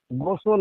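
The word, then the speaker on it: غسل: আজকের বিষয়বস্তু হলো কি কি কারণে গোসল ফরজ হয়। গোসল শব্দটি আরবি শব্দ। যদি গায়েন অক্ষরটির উপরে পেশ অর্থাৎ বাংলায় যাকে বলা হয় হর্ষৌ থাকে, তাহলে উচ্চারণ হবে গুসল, গুসাল বা গুসলা।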